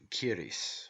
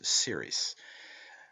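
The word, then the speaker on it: Ceres: of the english k the word in irish is pronounced kiris while in english it has the soft sound as series this difference in spelling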